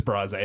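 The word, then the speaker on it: Brase: that how to pronounce is a bras or brace it's bras a it has to be at the AC bras a arena cape girardeau and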